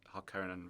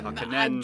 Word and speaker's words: Harkonnen: Olivia was telling me she had a Comic-Con experience where she said Harkonnen wrong, and some of the fans were like, no, it's two ends. I Harkonnen.